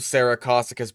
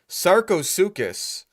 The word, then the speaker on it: Sarcosuchus: I knew a girl named Saracosuchus back in high school. Oh my fucking god. That's real bad. Sarcosuchus. I can see why you went with Super Crocs. If you think it's pronounced Saracosuchus.